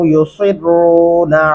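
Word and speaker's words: يسرون: क़ब्ल ज़ालिका मुत्रफ़ीन व कानू युसिर्रूना अलल हिन्सिल अज़ीम। युसिर्रूना सीन नहीं लगाना, स्वाद लिखा हुआ है।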